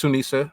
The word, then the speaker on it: Sunisa: All right, number two is now her name can be pronounced multiple ways, but it's Sunisa.